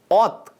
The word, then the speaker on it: ᱛ: This letter is pronounced Ot in Santali.